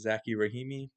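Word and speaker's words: Zackey Rahimi: So the challenge made it to the Supreme Court because a man named, I believe it's pronounced Zaki Rahimi, um, alleged that it infringed on the Second Amendment rights because of the new law in 2022.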